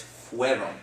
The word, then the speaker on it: fueron: a little bit off, fueron. Yeah, I have trouble with that. Yeah, it's because you pronounce it almost like an IE, like fiero. It's fueron, okay? Kind of like a W sound.